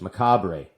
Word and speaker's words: Macabre: I know this, Macabre.